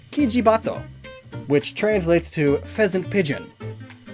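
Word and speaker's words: キジバト: This one is a bit more complicated though, so to severely simplify things, the Oriental Turtle Dove's Japanese name is pronounced, roughly, Kijibato, which translates to pheasant pigeon.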